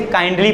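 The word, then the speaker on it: kindly: किंडली पढ़ना चाहिए 12 खड़ी के, लेकिन इसे काइंडली पढ़ा जाता है। ठीक है, 12 खड़ी के हिसाब से कुछ वर्ड रीड नहीं किए जाते, काइंडली रीड किया जाए।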